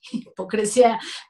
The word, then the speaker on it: hipocresía: Cuando escriban, por favor, la palabra hipocresía, háganlo con S y con acento en la I, hipocresía, por favor.